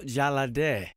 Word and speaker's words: Jalade: We are getting ready for the weekend, and I'm blessed with the presence of Jalade. Hello. I love saying your name. Am I saying it right? Yes, awesome. You are.